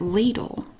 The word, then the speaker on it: Lidl: i've ever tried was it ladle and that is how you pronounce it here i have to say that every time i did clarify it with the company lidl they have this self-rising